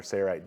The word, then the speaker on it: Sailrite: McNolan, wait a minute, did you just pronounce the L in the Sayrite company name? All the other videos, it appears to be silent, which is correct.